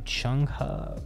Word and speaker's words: Chung Ha: So shout out to Chung Ha, is how you say her name.